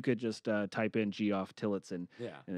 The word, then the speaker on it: Tillotson: Or you could just type in Geoff Tillotson, Yeah. and it's Tillotson. Yep. Tillotson. Yeah, but it's pronounced Tillotson.